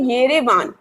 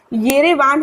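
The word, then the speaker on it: Yerevan: ठीक है, येरेवान है, लेकिन अर्मीनिया की कैपिटल यारावान से लर्न कर लो, ठीक है। यारावान, यारा वर्ड याद रहेगा, यारावन, ठीक है, या फिर यारावान, ऐसे याद रख लो। वैसे स्पेलिंग में YERE आएगा, ठीक है।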